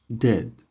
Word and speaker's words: debt: debt قرض. دی بیش سایلنت. debt.